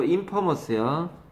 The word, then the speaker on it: infamous: infamous요. infamous가 아니라고 infamous요.